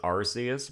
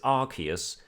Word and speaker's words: Arceus: I looked it up, and the American pronunciation is Arceus, but the British one is Arceus, so I prefer a nice blend of Arceus.